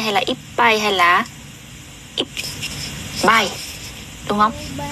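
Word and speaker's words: 一杯: là ippai hay là ippai. Đúng không? Ở đây ấy, thì nó chỉ có phân biệt là pai và bai thôi, thì ba ấy, thì chúng ta sẽ đọc là pai nhá, ippai.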